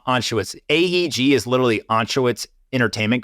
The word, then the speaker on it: Anschutz: Philip Anschutz? Anschutz.